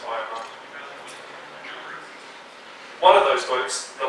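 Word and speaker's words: Ahioma: I know it says Ahiyama, but apparently it's pronounced Ayama.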